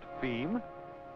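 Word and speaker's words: fim: distribution within brazil f i m pronounced theme being as you've guessed it portuguese for the end it's pretty great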